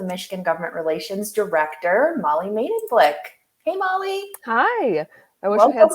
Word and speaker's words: Medenblik: So my name is Molly Medenblik, and I like to tell people the easiest way to remember to pronounce it is Medenblik, like made in China, but made in Blick.